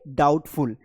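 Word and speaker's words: doubtful: ये वाला रूल लागू हो रहा है कि एम के बाद बी आया इसलिए बी साइलेंट है। थंब प्रिंट बोलेंगे और इसे बोलेंगे डाउटफुल।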